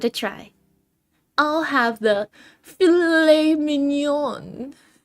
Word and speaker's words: filet mignon: The Grinch studies the menu and says to Martha, "I think I'll have the filet-it mignon." That's pronounced filet mignon.